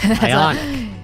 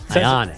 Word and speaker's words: Ioniq: Yeah, Ionic. You put the emphasis on the wrong syllable. Yeah, it's not Dominique Wilkins. It's Ionic.